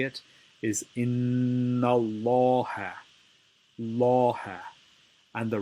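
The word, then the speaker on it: إِنَّ ٱللَّهَ: So it becomes Inna Allaha. Laha is the right way to say it. The wrong way to say it is inna Allah.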